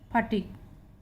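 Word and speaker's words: fatigue: जैसे एफ ए टी आई जी यू ई, इसको हम पढ़ेंगे सिर्फ फटीक।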